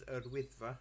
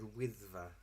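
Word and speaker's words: Yr Wyddfa: They've now made it law that Snowdon is now only to be known as Urwyddfa, its original Welsh name.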